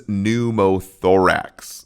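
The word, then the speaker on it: pneumothorax: Hemoththorax versus numoththorax which I call panumothoorax but the P is silent there.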